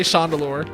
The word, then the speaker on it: Chandelure: I'm aware that it's Chandelure. It's just sometimes more fun to say Shandelure.